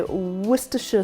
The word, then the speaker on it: Worcestershire: was to source properly I think you guys say Worcestershire sauce but if you go to Britain which is where Worcester is that is exactly what's called Worcester sauce although it's spelt Worcestershire and we're gonna cut up